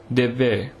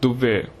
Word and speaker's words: Devve: The Badagas of the Nilgiris hold an agricultural festival called Devve, which should on no account be pronounced Duvve, which means burning ground.